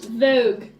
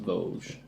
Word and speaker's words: Vosges: What about Vogue? I think we need a place where we can secure the gem, and it's pronounced Vosges, darling.